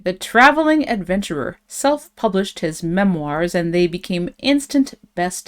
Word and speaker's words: memoirs: word here we have Memoirs that's how we pronounce this word memoirs it's from French so um that's why it's got the strange spelling and and a rather French sounding pronunciation okay so um what